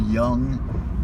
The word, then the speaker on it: Jung: I want to say Jung, that's what I've always said, because, you know, it's old school. But I believe it should be a Y pronunciation on that J.